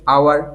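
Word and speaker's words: hour: এখানে দেখো উচ্চারণটা কি ভাওয়েল সাউন্ড দিয়ে শুরু হচ্ছে, আওয়ার, এটা হাওয়ার নয় আওয়ার, তাহলে অ্যান হবে।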